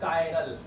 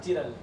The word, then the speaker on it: chiral: एक वर्ड लिखेंगे कायरल, कायरल that is कायरल नॉट चिरल, कायरल कोई चिरल नहीं है, ध्यान रखना, बहुत सारे